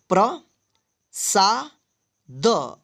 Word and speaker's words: प्रसाद: जैसे प्र, प्र, प के बाद जो है ना आधा र का हम उच्चारण करेंगे प्र। ठीक है, ब में रहे तो ब्र, अगर ज में रहे तो इसको आप जरा पढ़िएगा। ठीक है, यानी इस तरह का र पदेन की मात्रा जिस अक्षर में लगा रहे उसी अक्षर के बाद जो है ना आधा र का उच्चारण करना। ठीक है, तो प्र सा द, प्रसाद।